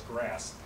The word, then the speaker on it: GRAS: is the acronym said it's pronounced as grass and so when Dr